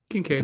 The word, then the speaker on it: Kincaid: Kincaid.